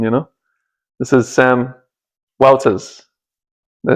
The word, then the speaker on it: Wouters: This is Sam Wouters. Did I say it correctly? Wouters. Wouters.